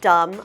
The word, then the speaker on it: dumb: sentence is what a dumb idea same thing it's kind of like the word num we don't pronounce the b so pretend it is